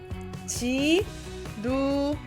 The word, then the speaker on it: 지루해: It's an L, but a soft L is how you want to think of that. And then the final syllable, we're not going hey. Hey! Right, don't swing the sound at the end. Chop it off and go he. He.